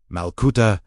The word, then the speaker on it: Malkuta: But the Aramaic word malcuto pronounced Malcuda meaning the divine reign.